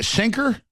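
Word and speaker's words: Cenk: we should really investigate how do you say Sinker Sinker yeah I always forget yeah CUA I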